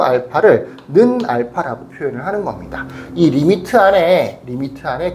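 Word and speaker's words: lim: li 리미트라고 읽습니다.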